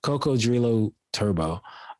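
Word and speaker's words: Cocodrillo Turbo: He dropped Cuckoo Drillo. Is that how you say it? Or I want to say it's Coco Drio Turbo. Coco Drillo. Yeah, what he said, man. Coco Drillo Turbo.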